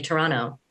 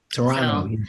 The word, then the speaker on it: Toronto: that apparently when you're from Toronto, you say Toronto. Toronto. So there you go. Toronto. Now you can know next time. Say Toronto, and they'll have to Here's listen the to That's you.